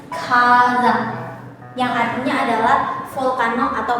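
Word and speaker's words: 火山: Seperti ini, dia ditemani oleh kanji api atau ka, maka dia dibacanya kazan, yang artinya adalah volcano atau magma.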